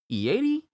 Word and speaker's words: Ieri: Ieri? Ieri? I-E-I-R-I. Ieri.